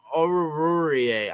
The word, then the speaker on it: Oruwariye: But yeah, how do you pronounce his name? Urare? Amani or Oruwariye? Oruwariye.